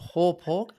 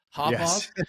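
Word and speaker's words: Hauppauge: I think I'm pronouncing this right. Yes. Hawpaw. Is that how you pronounce it? Hawpaw.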